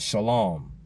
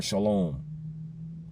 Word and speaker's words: shalom: Some people spell it with an S-H-L-A-W-M, like the word lawn, green grounds, just with an M on the end. Shalom.